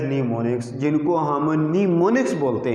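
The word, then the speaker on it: mnemonics: तरह, known as न्यूमोनिक्स, इट is pronounced as न्यूमोनिक्स, जिनको हम न्यूमोनिक्स बोलते हैं।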